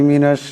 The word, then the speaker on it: مَا: তুর, এখানে রাটা মোটা করিয়া উচ্চারণ করতে হবে। وَإِذْ أَخَذْنَا مِيثَاقَكُمْ وَرَفَعْنَا فَوْقَكُمُ الطُّورَ خُذُوا مَا آتَيْنَاكُمْ بِقُوَّةٍ وَاسْمَعُوا। খুজু, মা এখানে মদ আছে, সেটা লম্বা করিয়া পড়তে হবে।